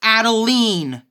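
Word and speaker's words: Adeleine: you heard that right her name is actually pronounced Adeline arguments aside she's still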